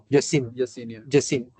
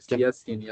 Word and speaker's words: Yasin: Jasine. Should I pronounce this as J? Yasin or Jasin? Yasin.